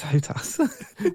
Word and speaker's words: HOTAS: Yeah, no, it's HOTAS. That's how people pronounce it anyway.